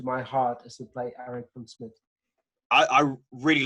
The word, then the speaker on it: Erik van Smit: I play the character Erik van Smit, also known as Eric van Schmidt or something like that, however the UK people pronounce this. But it's Erik van Smit.